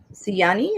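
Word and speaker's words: Siyani: you for the invitation see yani is how you say your name mm-hmm this is my [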